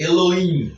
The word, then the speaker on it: Elohim: Tentando pronunciar isso. É de Elohim.